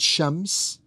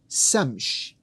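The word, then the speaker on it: شمس: The word shams, another Quranic word, the word shams, which has SH in it and it has S in it, shams. These could be flipped around, and some Arabic-speaking populations would pronounce it Samsh.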